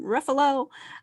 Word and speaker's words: Ruffalo: Ruffalo.